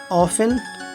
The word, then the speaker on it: often: जैसे ऑफन OFTEN, listen LISTEN। ठीक है, ये सभी शब्दों में रूल्स लागू नहीं होते। जैसे 10 में तो ऐसा नहीं है, लेकिन ऑफन लिसन में ये EN से पहले साइलेंट होता है।